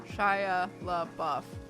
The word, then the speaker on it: Shia LaBeouf: mr mime to be shia labeouf shaya love buff that's four right i know shia feels like one and it might be considered one syllable but it's got a weird rhythm to it i signed no such